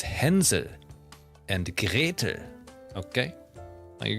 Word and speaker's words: Hänsel: You know, I pronounced the Hansel and Gretel exactly the way, like, English-speaking people like to do so, right? But if you want to be really, like, German fairy tale accurate, it's Hänsel and Gretel, okay?